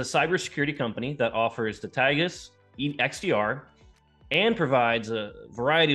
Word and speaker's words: Taegis: And I have to correct the pronunciation of our flagship product. It's actually Taegis. Taegis, all right.